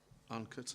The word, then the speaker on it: Onecote: Onecote, I think they pronounce that way. Is that correct, Sue? Onecote, yeah.